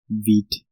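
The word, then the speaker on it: Vite: bundle tool now enter beat JS although it's spelled as byte its pronunciation is derived from the French word for quick and that is wheat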